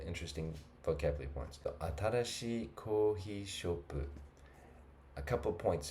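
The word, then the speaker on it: コーヒー: Kohi, a couple of points about pronunciation here. And always listen to a native speaker, don't listen to me. But kohi, see the lines that makes it longer. Pay attention to these.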